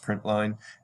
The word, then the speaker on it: println: Println is usually pronounced print line, and the reason is line is short for line.